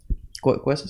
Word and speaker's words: Coase: ¿Coase se pronuncia?